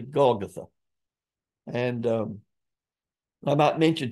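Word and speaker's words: Golgotha: his crucifixion many times we'll mispronounce that and call it golg gotha it's really golgatha and um I might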